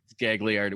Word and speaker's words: Gagliardi: Gagliardi. We pronounce all the letters.